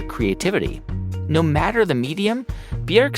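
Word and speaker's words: Björk: in the room here it's not pronounced Bjork it's bjerg so how do you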